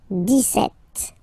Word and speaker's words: dix-sept: But then for the pronunciation, dix-sept, okay? So you don't insist on the s.